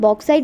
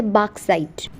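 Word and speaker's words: bauxite: वैसे इसे हम बॉक्साइट बोलते हैं लेकिन इसकी असली जो प्रोनाउंसिएशन है ना वो होती है बॉक्साइट।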